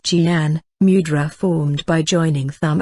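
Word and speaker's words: Jnana: The famous Nana, pronounced Jian, mudra formed by joining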